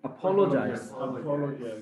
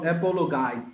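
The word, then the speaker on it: apologize: ইউজ অ্যাপোলজাইজ উচ্চারণটা কি এপোলোজাইজাইজ এপোলোজাইজ মানে কি মাফ চাওয়া উচ্চারণটা বলো এপোলোজাইজ শুদ্ধ উচ্চ শিখতে হইবো নট অ্যাপোলোগাইজ অ্যাপোলোগাইজ উচ্চারণটা অ্যাপোলজাইজ ইট ইজ নো ইউজ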